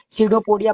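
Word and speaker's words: pseudopodia: तो अमीबा में ही तो सीडोपोडिया पाया जाता है ना। सीडो सीडोपोडिया, ये पी साइलेंट रहता है आगे, समझ में, सीडोपोडिया, पोडिया, ये आपका है प्रकाश कूटपाद जो है अमीबा में पाया जाता है।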